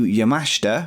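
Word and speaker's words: Yamashita: Janai Kai Trish Adora Miu yamashta which is how you pronounce it apparently Thunder Rosa as well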